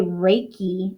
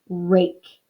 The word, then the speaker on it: rake: cannot hear it okay it is not a reiki i don't go and shovel or shovel rake raking my leaves out of the yard okay it is just the word rake so please keep that